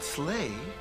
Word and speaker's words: sleigh: And the word sleigh rhymes with play.